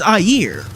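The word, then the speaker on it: Aegir: Getting a bit namey with things, did you know that Iger is actually pronounced Ayer? Number 28.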